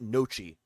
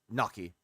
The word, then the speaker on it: gnocchi: Yeah, because I always call it nochi, but then I had it corrected. It was gnocchi.